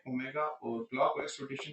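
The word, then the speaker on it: ω: यह डब्लू नहीं है। डब्लू जो है वो इंग्लिश लैंग्वेज में इस्तेमाल है। ये ओमेगा प्रोनाउंस होता है।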